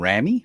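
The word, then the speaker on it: Raimi: Sam I'm not to pronunciation. Sam Ramy. Ramy. Oh, Remy.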